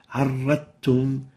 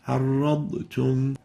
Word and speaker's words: عرضتم: Now, there's a ta after the Dhad, and you tend to delete or hide the ba and directly pronounce the r with the ta. عرضتم.